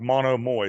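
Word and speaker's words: Monomoy: is called monomial monogamally that's how you say it's like mono Moi so mononomoy mononomous Capital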